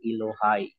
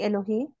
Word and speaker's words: Elohai: pakinggan natin si gadol ang pagpronounce po ni gadol elohai hindi Eloi Hindi elohai ah ELO so play po